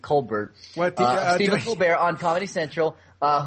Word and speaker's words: Colbert: uh Steven coar on I guess she pronounces it Colbert stear on Comedy Central